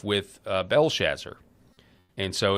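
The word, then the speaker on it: Belshazzar: So if you go to Daniel chapter 5, which is up on your screen, uh it talks about King Belshazzer is how I pronounce it or Belshazar.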